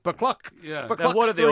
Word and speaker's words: Buccleuch: They couldn't explain because it's spelt, with all those EUs and ACHs. Buccleuch.